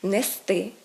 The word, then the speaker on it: нести: наголос падає на закінчення правильно говорити нести брести вести мести а не так як звикла досить значна частина аудиторії мести брести плести це все неправильно далі похідні форми якщо